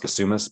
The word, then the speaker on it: Kasumis: The last name is pronounced Kasumis, but please feel free to just call me. The long Greek name is it throws everybody.